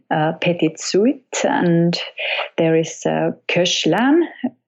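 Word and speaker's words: Koechlin: suet and there is cash lon I'm not very sure how to pronounce this I hope it's close not coastland cept it it includes saxophone also this Koshland piece and dandy chanson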